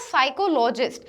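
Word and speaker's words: psychologist: Then उसके बाद साइकोलॉजिस्ट, तो यहाँ जो पी है जो हमारा लेटर वो साइलेंट रहता है, साइकोलॉजिस्ट, तो यहाँ जो पी है वो हमारा साइलेंट लेटर है।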